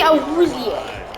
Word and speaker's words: Awuzie: Awuzie. I didn't know that's how you pronounce Got a it.